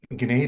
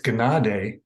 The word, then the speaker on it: Gnade: visited years ago and they said it's Gnade and g n a d so that was kind of strange but it actually makes a more sense because when I always give my name for any reason they always spell it I say ganade so they make it g n a d all the time and